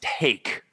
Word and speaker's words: t8ke: is also known as and it is pronounced take right yeah okay cool because it it's it's